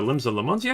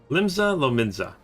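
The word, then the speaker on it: Limsa Lominsa: It's time to return to Limsa Lamonzia? Okay. Okay. I totally pronounced it improperly again. Alright, no point waiting around here, is there? We should head back to Limsa Lamonzia. Wait. Lominza? Limsa Lominza.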